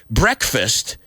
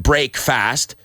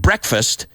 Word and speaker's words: breakfast: paid a yuna break we don't pronounce it break fast we pronounce it breakfast but the idea behind